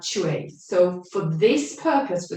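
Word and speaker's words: chaw: So it's like you pronounce it C-H-A-W, chue, chue. Okay, so you can say that sound out loud, or you can just whisper it to yourself.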